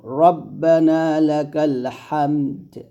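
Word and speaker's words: ربنا لك الحمد: রব্বানা লাকাল হামদ হামদ হামদ এরকম এখানেফ করলে দালটা সাকিন করে ফেলবো হামদ রাব্বানা লাকাল হামদ এরকম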